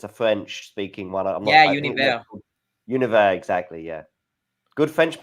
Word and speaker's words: Univers: Univers, exactly. Yeah. Good French pronunciation there as well.